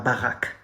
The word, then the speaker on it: baraque: Just like Barack Obama, la baraque.